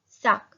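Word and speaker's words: sac: बैग को बोलते हैं साक.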